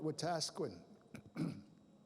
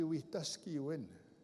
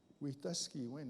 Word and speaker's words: Wetaskiwin: mispronounced city in canada people call it watasquin anybody know where tasquen is it's in alberta it's right by my reserve but it's actually wetaskiwin we tuskey when we tuskey win is a cree